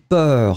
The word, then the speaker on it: peur: Pour l'instant, on fait un exercice où je prononce des mots et vous devez choisir le mot que j'ai prononcé. Donc ici, effectivement, c'était B, c'était peur.